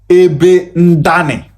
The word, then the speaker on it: Ndoni: Ndoni is originally pronounced as Ebe Ndane, which means where I fell.